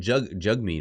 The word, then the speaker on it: Jagmeet: Trudeau and NDP leader Jagmeet Singh, Jagmeet apparently is how it's pronounced. I don't want to mispronounce that.